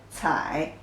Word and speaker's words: 采: The pronunciation is 采 ci 采 third tone.